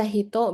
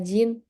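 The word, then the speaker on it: 人: Bisa dibaca hito, bisa dibaca jin. Kalau jin, di depannya, di garis ini, itu harus nama negara.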